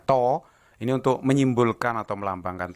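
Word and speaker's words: τ: saya beri keterangan jadi toitu ini bacanya Toyo karena huruf Yunani bacanya toh ini untuk menyimpulkan atau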